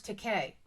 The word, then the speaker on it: Takei: George Takei. Is that is right? great. Did I say it right? Yes, as in toupee.